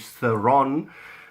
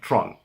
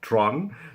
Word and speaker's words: Theron: Now, they call her overseas, they call her Charlize Theron, which is nonsense. She's Afrikaans girl, she comes from South Africa, and we pronounce it Tron. Okay, so Charlize Theron, Tron, that is my third most favorite actress, I would say, out there.